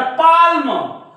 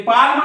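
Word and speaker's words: palm: याला कालम याला बालम याला पालम पण हे कालम नाही हे आहे काम कारण एम च्या वर एल चा उच्चार होत नाही याला कोणी बालम म्हणेल हे बालम नाही बाम हे पाम नाही पाम म्हणजे इथं सुद्धा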